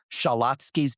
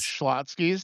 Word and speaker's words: Schlotsky's: And Shalotsky's Deli. You ever eaten there? Yeah, He okay, has. Schlotsky's, there's no extra letter in between.